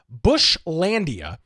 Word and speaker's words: Bushlandia: he's got a custom map his service called bush landia it's b-u-s-h-l-a-n-d-i-a it's spelled exactly as it sounds and we are